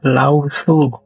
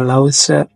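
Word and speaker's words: Laozi: dari tradisi filsafat Tiongkok yaitu lausu atau kadang-kadang juga dibaca Lause kadang-kadang juga dibaca lauzi Monggo saja cara membacanya beliau ini dipandang sebagai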